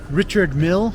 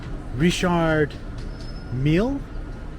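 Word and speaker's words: Richard Mille: there and they sold Richard Mill watches I know some people pretend to pronounce it Richard meal so I hope I'm pronouncing that correctly I'm gonna take a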